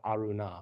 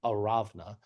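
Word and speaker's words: Araunah: this threshing floor of Arunah, or the threshing floor of Aravna, as you might also pronounce it from Hebrew, but which in your Bibles is probably Arunah.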